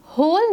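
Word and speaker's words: whole: होल में हम pronounce करते वक्त ह की यानी एच की साउंड निकाल रहे हैं, डब्ल्यू को हम प्रोनाउंस नहीं करेंगे, इट इज़ a silent letter.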